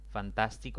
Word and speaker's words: fantástico: Fantástico es una palabra de 4 sílabas. Por lo tanto, la mayor intensidad de voz recae en la antepenúltima sílaba. Al ser así, se le debe colocar tilde porque es una palabra esdrújula.